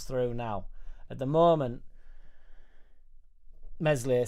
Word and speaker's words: Meslier: That's why when people are so quick to kick Meslier, Silent S out, what do we have that runs through now? At the moment, Meslier, Silent S.